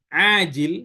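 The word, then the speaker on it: عاجل: Yang pertama pakai ain, ajil, yang kedua pakai hamzah, ajil.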